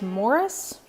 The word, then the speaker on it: Maurice: that i think that the british pronunciation of this is morris and i just can't get myself there so for me this is maurice the great gatsby by